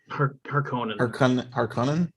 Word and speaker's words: Harkonnen: Kabuki has corrected my pronunciation about the Harkonnens. Harkonnen?